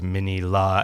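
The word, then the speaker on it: Minilla: But I only learned in researching this episode that the official pronunciation is in fact mini la as in mini Godzilla.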